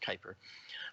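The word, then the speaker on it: Kuiper: that are always tracking solar system objects and Kyper belt objects now Kyper which is Ki p r that's actually pronounced Kyper the Kyper objects um might have very large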